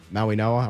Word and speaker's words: Mauigoa: Number nine, Kansas City taking Francis Mauigoa. I'm pretty sure that's how that is pronounced, uh even though there's no N in his name.